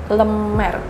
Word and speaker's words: Le Mere: Saya mau nanya, bacanya yang benar itu gimana sih tempat ini? Lemer.